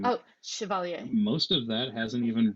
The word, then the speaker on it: Chevalier: mean yeah some of the some of the chevrolet distinct george or every say his name oh chevalier most of that hasn't even really chevalier okay